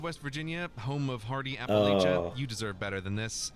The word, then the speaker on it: Appalachia: say it it's just you don't pronounce Appalachia I'm gonna throw an Apple at you you know what Arkansas